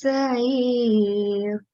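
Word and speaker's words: السعير: Ashabis Sa'ir. Ashabis Sa'ir. Because remember this ayn is a throat letter, so it should be pronounced from the middle of the throat.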